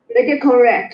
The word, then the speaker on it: redecorate: Redecorate. So it's 4 syllables. Redecorate. Redecorate.